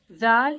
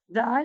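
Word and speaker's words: ذال: Zal is one of the light letters, but Zo and Zod are heavy letters. Zal is pronounced from the tip of the tongue with the incisor, with the lower side of the incisor.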